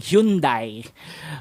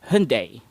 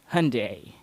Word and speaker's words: Hyundai: on the Y, saying Hyundai. But if you ask any Korean, South Korean to be specific, the Y goes by a little bit quicker, so you pronounce this. You pronounce that as Hyundai.